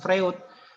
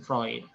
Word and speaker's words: Freud: adalah vroid Sigmund freund jadi bacanya itu bukan Sigmund Freud Tapi bacanya Sigmund proyek jadi Sigmund Freud itu